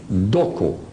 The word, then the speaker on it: Doko: They are named on their language Doko. Dokos with an S if you want to. Dokos, phonetically what they call them, Doko.